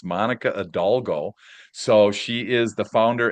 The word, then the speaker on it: Hidalgo: a great name, but she has an H at the beginning and I just learned not to pronounce it with it. So, I did really good the first time. It's Monica Adalgo.